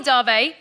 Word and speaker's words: Dave: pisses me off so it's darvey spelt dav pronounced darvey do you want to